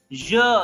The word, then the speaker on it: je: So that je sound, but here I am pronouncing it as je, like pleasure, treasure, measure. So je. And this E is pronounced as half a.